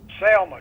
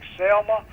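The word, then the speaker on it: Zelma: was selma e bullock is his first name spelled with a z z-e-l-m-a selma just like selma oh yes gotcha gotcha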